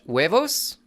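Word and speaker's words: huevos: Cletus, the H is silent in Spanish. Wuevos.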